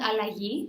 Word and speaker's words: Allagi: butcher the spelling or the pronunciation can you pronounce it for me yeah it's called I like ye which means transition or change okay great and